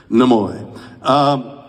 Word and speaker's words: Nimoy: And you pronounced the name correctly. Nimoy.